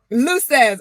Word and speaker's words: Luces: so it's it's like Simon Says LC say luses oh I like it Stacy luses Stacy I like it so Stacy luses um let's get this straight Evolution Executive coaching